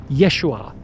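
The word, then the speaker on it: ישוע: His real name was Yeshua Kamashiach. That's how you pronounce it in Aramaic.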